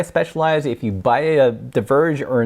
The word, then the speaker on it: Diverge: I'm gonna take a look at the specialized Deaver J with extra boying in the front just kidding it's pronounced diverge by that way I like in this like